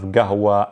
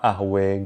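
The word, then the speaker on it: قهوة: So we have gahwa, ahwe, gahwa, things like that. It's the same word, but it just kind of goes over the different pronunciations due to how different countries interpret the qa or the ta marbuta, etc.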